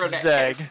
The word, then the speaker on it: Brzeg: I understand that at the end of the stream, for those of you who watched the episode, I began to pronounce it wrong. So yes, it's Brzeg.